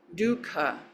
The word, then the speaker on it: dukkha: Dukkha has this ka. Dukkha. You can feel it in your throat.